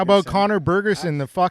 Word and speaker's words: Bergersen: How do you say your last name? Bergensson. Bergerson. Bergerson. Yeah, it's Norwegian.